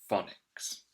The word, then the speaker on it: phonics: phonics lesson and again listen to that sound at the beginning it's being made with a ph phonics so when you come across a ph when you're reading remember that it makes the f sound and the ff is